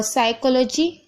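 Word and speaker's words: psychology: और साइकोलॉजी, यहाँ पर देखिए पी साइलेंट है।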